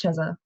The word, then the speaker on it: Chezah: actually, but it's pronounced Chezah Oh everywhere.